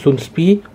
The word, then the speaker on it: Soundpeats: Alors, on va appeler Soundspeed plutôt.